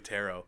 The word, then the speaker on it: tarot: to let you know this letter silent but they don't know but it's definitely Tarot what's like Colbert right like yeah it reads